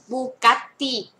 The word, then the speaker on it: Bugatti: จะ มี เฉลย บูกัตติ บัิ Bugatti รส ค่ะ โอเค นะ คะ เฉลย แล้ว นะ บ เสียง นี้ ออก เสียง แ อึ นะ คะ บัิ บัิ นะ